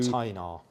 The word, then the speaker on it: Tainar: Tainar. You've said it right, because I always get it wrong. Tainar Batteries.